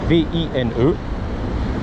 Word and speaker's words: Vine: Hollywood Boulevard, Vine Street, V-I-N-E. Prononcé Vine, exactement.